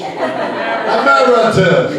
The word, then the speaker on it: emeritus: Would you pronounce that again, please? Emeritus.